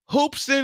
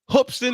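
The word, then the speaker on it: Hoopeston: Carolina Gamecocks what folks hoopson Illinois hoopson Illinois I gotta say it right hopston Illinois well basketball town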